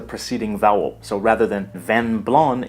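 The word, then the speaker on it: vin blanc: Vino biano in French van blon here the final C is silent so the last sound we hear is the nasal sound represented by n van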